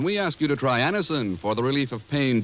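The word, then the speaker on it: Anacin: the results ask your druggist for anisin today Anison is spelled a n a c i n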